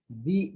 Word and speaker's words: the: दी बोलेंगे, क्यों उच्चारण ये से, दी एलिफेंट वॉज वेरी लार्ज।